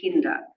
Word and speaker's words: Kinder: 12-year-old young girl called Billy Kinder pronounced like Kinder in kindergarten also who died in